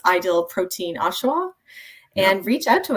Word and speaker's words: Oshawa: So tell us about, how can people find you ladies if they are in Ontario, if they are in Oshawa?